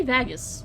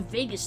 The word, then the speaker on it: vagus: that oh not bangers vagus is it a g or is it like a good or a g because i pronounce that very differently i'm gonna i'm gonna say vagus because it sounds vegas oh like vegas that's